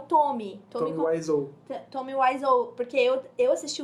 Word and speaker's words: Wiseau: cara lá, o Tommy Wiseau.